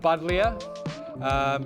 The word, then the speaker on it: Buddleja: It's called Buddleja. It's spelt with a J, but it's pronounced with a Y.